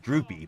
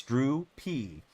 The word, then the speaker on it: Drew P.: Pronounce it fast. It's like droopy, but yeah, it's Drew P.